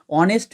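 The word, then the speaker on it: honest: অনেস্ট ম্যান আও আর আয়র রয়েছে। অনেস্ট ম্যানের এইচ উচ্চারণ কর।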